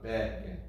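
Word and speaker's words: בגד: But if you go babeged, it could come out like a ged, but we don't get. We don't want ged. We want strong weak on beged.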